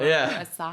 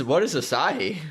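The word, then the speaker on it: açaí: What is acai? Acai, it's that berry, the Brazilian berry that was the superfood. That's how you pronounce it.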